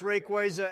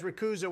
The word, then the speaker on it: Rayquaza: did your dumb ass just pronounce Rayquaza as rakuza what the [ __